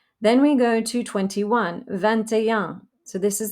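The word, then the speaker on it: vingt et un: like wine v-i-n then we go to twenty-one vantajang so this is like twenty and one the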